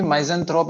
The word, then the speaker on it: misanthrope: यहाँ पर भी misanthrope and misanthrope दोनों ही करेक्ट हैं. Okay. Depends on different countries, different reasons. अलग अलग कंट्रीज में अलग अलग रीजन में इनकी जो प्रोनाउंसिएशन चेंज होती रहती है.